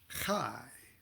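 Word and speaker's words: Chiah: Four parts of our soul, which Kabbalists refer to as, starting at the top, the Chai, and that's spelled C-H-I-A-H usually. Chai, like l'chaim, to life.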